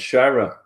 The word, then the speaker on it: Shira: Is that how I pronounce it? That's correct, Shira.